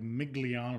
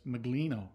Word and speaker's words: Miglino: I always want to say like Migliano or something. I know that's not it, but it's Miglino, right?